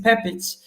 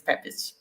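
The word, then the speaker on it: Pepić: not sure if it's pepik or how do you pronounce that hi Eric hi Vera nice to be here thank you for inviting and my correct or the correct pronunciation is pepich so I originate from uh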